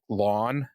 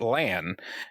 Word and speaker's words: Lan: ruffled some feathers by pronouncing lan more like lawn oh yeah we all we everyone we were all like um move on this is obviously not what they're they're not gonna do that yeah and so anyway he introduces himself and pronounces it lan very clearly someone's corrected him like